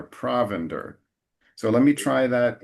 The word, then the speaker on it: provender: And in the second line, after straw, the emphasis is provender. Provender. So, so as usual, the emphasis in English is a little earlier, provender.